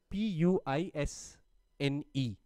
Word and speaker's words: puisne: अच्छा, इसमें जो puisne judges मैं कह रहा हूँ उसकी स्पेलिंग है PUISNE, ठीक है. उसके जब आप प्रोनाउंसिएशन करते हैं तो उसको puisne कहते हैं, ठीक है.